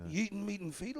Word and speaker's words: Yitn Mitn Fidl: You say it like with a goyish tone. It's Yitn Mitn Fidl.